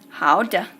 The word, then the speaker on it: 好的: It is 好的. It means okay. 好的. And the de is in fifth tone, which is nothing. So it's just de.